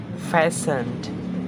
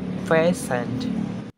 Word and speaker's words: fastened: saw listened listened castle castle softened softened and fastened fastened okay guys thank you for your attention i'm